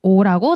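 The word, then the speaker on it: eau: 요즘은 그 디자인이 아니던데 옛날에는 요런 캡슐 모양에 오라고 되어 있었어요. 아직도 그 물 이름은 오더라고요. 프랑스로 그냥 물이란 뜻이에요. 예. 이렇게 간단하 물물이란 뜻이죠. 아무튼 오라고 발음하시면 됩니다. 오.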